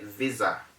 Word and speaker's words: visa: whatever the word is when you mention the word the sound becomes a z sound that is why i said visa instead of visa according to the rule it is wrong to say visa visa is not an option it is wrong the correct pronunciation is visa take note of that